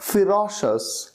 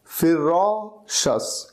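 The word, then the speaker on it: ferocious: यूज कर सकते हैं फिरोश अस फिरो शस इस तरह से इसकी प्रोनंसिएशन होगी फिरोश अस एफ ई आर ओ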